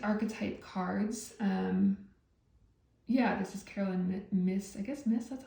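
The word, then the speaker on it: Caroline Myss: Yeah, this is Carolyn Miss, that's how you pronounce it.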